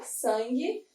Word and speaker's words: sangue: Sangue, aqui eu também tenho um dígrafo, mas é um dígrafo consonantal. Foi, sangue. Esse U, ele não é pronunciado de uma forma, né? Claro.